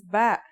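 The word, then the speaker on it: ب: this lesson don't our first letter of this lesson is ba and yeah it makes a b sound you can remember this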